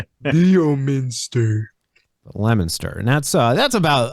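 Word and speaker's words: Leominster: of Weds I travel from uh Worcester to lemonster and that's how you pronounce it it's not Leo Minster Leo Minster lemonster and that's uh that's about a 30 minute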